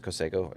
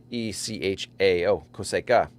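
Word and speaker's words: cosecha: the 146 coseco and so i think it's coseco it's spelled c-o-s-e-c-h-a-o coseca yeah i have been doing it wrong uh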